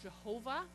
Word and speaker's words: Yahweh: or I am and the Hebrew word here is Yahweh or sometimes it's pronounced Jehovah and throughout the Old